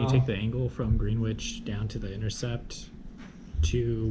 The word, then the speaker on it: Greenwich: But it's pronounced Greenwich.